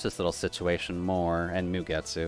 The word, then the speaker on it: Mugetsu: I wanted to watch this little situation more, and Mugetsu. It's probably just Ge. It's probably not J. Mugetsu is kind of the normal way this is pronounced, but If I recall correctly, she's also just an excessively powerful maid.